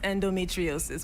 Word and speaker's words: endometriosis: Now, how do you know you have endometriosis? Is that the correct pronunciation? Yes, endometriosis.